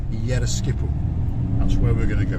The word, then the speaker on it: Yeroskipou: Yeroskipou, correct. Yes. Well done, you. Yes. My pronunciation of some of the names is quite good.